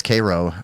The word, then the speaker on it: Cairo: places I've ever been is Cairo uh which is how they say it uh because everything down there is pronounced backwards 10 minutes 10 minutes south